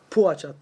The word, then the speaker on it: Poğaça: uçağın yarın geleceğini söyledik poğaça doğru okunuşu bu aşk Herkes farklı bahsediyor ama poğaça çift diye geçiyor O da bir hücum